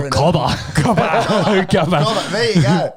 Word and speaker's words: Cobb: As we mentioned last week, Aaron Rodgers showed up to training camp, and they did trade for Randall Cobb straight after. Cobb. Cobb. C-O-B-B, one Cobb. syllable.